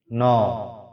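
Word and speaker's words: know: इन, ऑन, नो, एनी, नौ। देखिए ये इसका प्रोनाउंसिएशन नो है और ये लफ्ज में के और डब्ल्यू साइलेंट है, इसलिए इसका प्रोनाउंसिएशन सिर्फ नो होगा।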